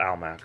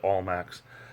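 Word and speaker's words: Almacs: supermarket called over here over here was called al Mack some people pronounced at all Macs and they're pretty popular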